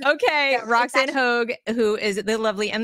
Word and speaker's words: Hoge: because I'm gonna Roan hog rhymes with Rogue okay Rox and hog who is the lovely